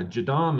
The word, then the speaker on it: JADAM: many ways of doing it you know your jadom fertilizers you know you familiar with that jim no i've heard of that just lately though tell me can you spell that oh yeah jadam it's a j-a-d-a-m and it's a style of